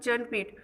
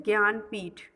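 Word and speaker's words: Jnanpith: Okay, you can pronounce it Janpith, but actually its pronunciation is Gyanpith.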